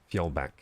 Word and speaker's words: Fjordback: Oh good, Fjordback. Yeah, we don't have that, in English we don't have the J thing, but I like the J thing a lot.